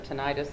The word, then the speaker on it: tinnitus: thing was I have people pronounce it differently tinnitus or tinnitus in my ears severe